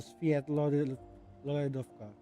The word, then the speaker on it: Svietlolaidovka: So pronouncing Sviet is like as like you have a hidden Y there. So Svietlolaidovka.